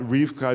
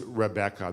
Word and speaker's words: Rebecca: so it seems that Rifka is actually not the original pronunciation it seems that the original pronunciation of the word was Rebecca that it was three syllables not two syllables it seems that the